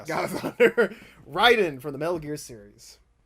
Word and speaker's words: Raiden: Marvel Comics versus um I never can say his name. Ryden. Yeah. Some I want to say Raiden, sometimes Ryden, but it's Raiden.